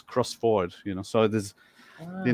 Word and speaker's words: Crossford: used to think that crossford was would be pronounced crossford you know because it sounds Scottish I live